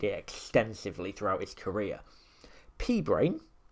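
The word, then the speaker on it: p-brane: P-brain, here, as it's spelt, P-B-R-A-N-E, like you see on the screen, is a mathematical concept that's actually used in string theory and things like that.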